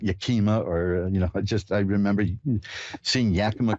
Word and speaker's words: Yakima: Karen in Yakima, Washington. Hi, you're on with Reverend Elliot. Hi, Elliot. Hi, did I pronounce that right, Yakima?